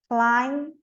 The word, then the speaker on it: climb: MB, não pronuncio o B, então. Com, climb, lamb.